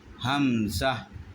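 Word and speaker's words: همزة: এরপর হামজা, প্রথম হা উচ্চারণ করব, হা, এরপর দুই ঠোঁট বন্ধ করব, হাম। এরপর যা, আমরা যে যা উচ্চারণ করেছিলাম ওই যারা উচ্চারণ করব, তাহলেই হামজা সহজভাবে হয়ে যাবে। হামজা না হয় হামজা হামজা হামজা, এরকম হবে। প্রথম হা, হাম যা, হাম যা, যা উচ্চারণ করি, দুইটা একসাথে উচ্চারণ করার পরে হামজা উচ্চারিত হয়।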